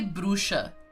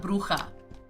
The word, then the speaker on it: bruxa: They say bruxa. It's not bruja. Bruxa.